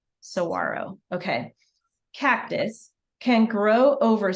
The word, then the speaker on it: saguaro: how you pronounce it, saguaro. It's basically telling you how to pronounce the word because it is a Spanish word, so you don't hear the G, saguaro.